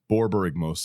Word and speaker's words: Borborygmos: Borborygmos, yeah. Yep. It's 2, 1 green, 1 blue, 1 red for a 6/5 Cyclops homunculus. And it just gets sillier and sillier as it goes. Whenever Borborygmos and Fibblethip, I'm going to call it Bobby